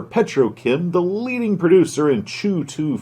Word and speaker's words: CHOOH2: However, Petrochem, the leading producer in Chew-2 fuel, at least I think that's how they pronounce it, which is a